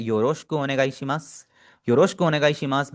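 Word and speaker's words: よろしく: इसकी प्रोनाउंसिएशन पे थोड़ा सा फोकस कीजिएगा। योरोशकु, योरोशकु, इसको आपने योरोशिकु नहीं पढ़ना।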